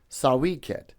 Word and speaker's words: Sawy Qed: Now the way you pronounce that is sawiket and it stands for children of the potter.